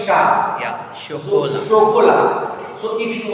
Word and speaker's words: chocolat: What I told, say ash will make sure sound. Sure. It is. I went like using whenever C follows consonant, then it will pronounce. That is there, but I told a group of consonants. Say ash will generally form sure sound. Shakola. Shokola. Why sha? That is the problem.